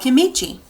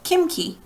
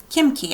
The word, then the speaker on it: kimchi: enjoy eating a food called chemichi no kimchi kimchi I guess is how you say that which is made